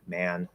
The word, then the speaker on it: man: men uh first one uses add plus m ma'am second one uses apples n man the third one uses e plus n min um i've talked not